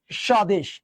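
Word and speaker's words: স্বদেশ: সধীন সধীন ঠিক আছে স জোর দিয়ে পড়তে হবে দেখ সদেশ দেখতো ব শুরু শুরুতেই ছিল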